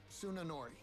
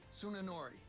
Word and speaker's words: Tsunenori: How is it pronounced? Tsunenori. Huh? Tsunenori.